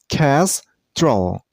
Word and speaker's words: kestrel: This name has also two syllables, kestrel. See, the last syllable isn't pronounced as trell, it's troll, troll, kestrel. And you should stress on the first syllable, I mean on kestrel, kestrel.